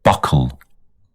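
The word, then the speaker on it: buccal: and then cocoa let me check this word how it's pronounced buckle buckle buckle buckle so buckles means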